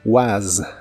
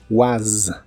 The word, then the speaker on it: was: de la palabra was termina con un sonido como de s vibrante es el sonido que comúnmente se usa para la Z en inglés Aunque varias palabras con s también la usan was was la palabra were se